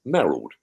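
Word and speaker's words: Mayorhold: would probably retire to the mold or maral as we pronounced it back then yeah and um he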